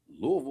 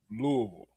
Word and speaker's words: Louisville: Well, why they say Louisville Slugger? Because they say it wrong. It's not Louisville Slugger. The Louisville slugger. Louisville. You can always tell when somebody's from out of town when they come